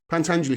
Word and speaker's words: Pentangeli: Pentangeli punt Anjali Pentangeli I think it's pronounced pant Anjali from The Godfather Part